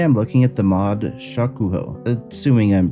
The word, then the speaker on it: Shokuho: Shokuho is Bannerlord after watching too much Samurai Champloo and deciding to overthrow the shogunate.